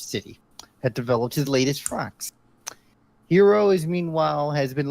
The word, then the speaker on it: Franxx: Franxx. Franxx. I thought you said Franks for just a second.